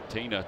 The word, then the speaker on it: Tena: Tena takes one high. It's 1 ball and no strikes. T-E-N-A, pronounced Tena.